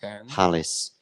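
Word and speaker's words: Halys: two break points um palis rhymes with Talis and and those of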